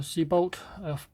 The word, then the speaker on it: Siebel: it wings inside this is all about the sea bolt that's how you pronounce it English one is at the top